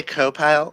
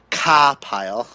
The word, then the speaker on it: CAWPILE: Oh, did I say co-pile? My bad. Ka-pile.